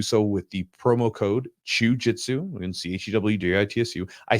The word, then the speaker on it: Chewjitsu: with the promo code Chewjitsu, and CHEWJITSU. I say that, by the way, I spell that out because some people think I'm saying jiu-jitsu. It's very close, right? It's the whole point of it.